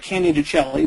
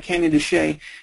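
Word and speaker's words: Canyon de Chelly: the map that's called cany toay looks like cany delli but it's pronounced cany toay and that's a special area it's a safe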